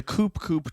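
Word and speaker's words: Coup Coup: c-o-u-p-c-o-u-p see or you the coupe Coupe Club not cool as a silent p can I also talk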